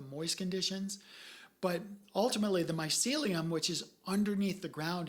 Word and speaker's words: mycelium: I mean, mushroom and what it's pronounced that again? The mycelium.